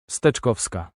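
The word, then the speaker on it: Steczkowska: Justina Kakowska, I believe it's pronounced Stkovska.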